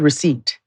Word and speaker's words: receipt: I hate the word receipt. I hate how it's spelled. The errant P.